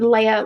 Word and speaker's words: Leah: You can find me on LinkedIn, Leah Leaves. And it's pronounced like Princess Leia, but written like Leah. So you'll see Leah, Leaves. So Leah Leaves on LinkedIn.